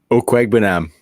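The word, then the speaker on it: Okwuegbunam: Do you know how to pronounce his last name? Okwegbenam.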